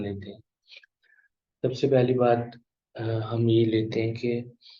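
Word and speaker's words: باء: جو تلفظ ہے وہ اردو میں ہم لوگ بے کرتے ہیں، لیکن عربی میں با ہوگا، با، اور جو اس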